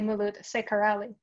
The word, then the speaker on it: Ceccarelli: Although since I work with internationals, they usually do not know that the C in the beginning of an Italian term is pronounced ch. So they usually say Molood Ceccarelli.